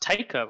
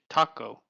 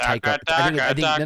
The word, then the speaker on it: Taika: how is it pronounced it's pronounced taika right or is it taco no i thought it's a taka which i could be wrong too it's probably i think it's tiger i think you're right it's tycho a td